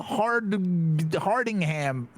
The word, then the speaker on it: Hardingham: Who Hardingham. Oh, all right. Make a decision. Choose. You have to choose. Husband or wife. Or neither. I'm sorry. Do it. I'm sorry. Hardingham, your name is 3 syllables.